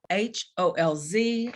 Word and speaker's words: Loeffelholz: It is Loeffelholz, and oh, believe me, I had to have a lesson on how to say it before we got on recording here.